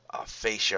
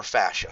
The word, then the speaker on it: fascia: architecture where we have fascia or fashio some people pronounce that fashion surrounding your your bones